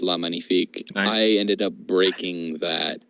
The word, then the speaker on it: La Magnifique: and then I meet magnifique which I'm probably pronouncing wrong from crimson coast which is a French five master yeah I think I had a copy of La magnifique but I I think it's pronounced lemony fake I ended up breaking